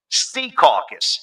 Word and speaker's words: Secaucus: born in Jersey, when he says Secaucus, he goes, Sea Caucus. He emphasizes the first syllable. Yeah, come on there, it's Sea Caucus instead of Secaucus.